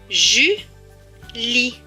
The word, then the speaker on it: Julie: Là, le E à la fin est écrit en bleu, donc il ne se prononce pas. Ce mot va donc se lire Julie.